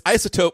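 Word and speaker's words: iZotope: called ISO isotop isotope it's isotope but it's spelled hipster with a z uh and like these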